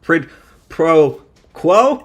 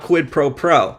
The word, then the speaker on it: quid pro quo: Yeah, so that's what quid pro quo, not quid pro pro.